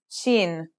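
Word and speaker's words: شين: The next letter we learn is shin. This one is pronounced just like the English sh in the word shovel.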